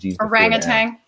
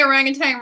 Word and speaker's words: orangutan: was wondering oh how i might not say orangutang orangutan i i say it with an ang i'm from the south